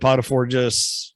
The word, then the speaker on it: Potiphar: Potiphar.